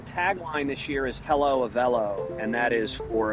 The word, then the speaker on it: Avelo: uh in people's heads that rhymes with hello and jell-o and a few other things so uh so we